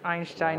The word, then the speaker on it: Einstein: in our home and Einstein is the correct way to say it so are you a